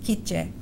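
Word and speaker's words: K'iche': comes from an indigenous family group which is pronounced kitje her father left julissa and her mother and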